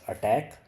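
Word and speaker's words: ATT&CK: The ATT and CK, this is pronounced as attack.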